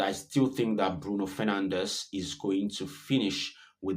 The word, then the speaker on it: Fernandes: And I still think that Bruno Fernandes is going to finish with the most assists. Uh so, I know it's pronounced Fernand, right? Uh Portuguese.